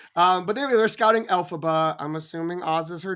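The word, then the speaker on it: Elphaba: pronounce her name uh alphaba right not Alaba which is how I wanted to say it every time I read it yes okay um sorry Jen um but there they're scouting alphaba I'm assuming Oz is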